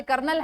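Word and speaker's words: colonel: जैसे कर्नल है, होता कॉलोनल है।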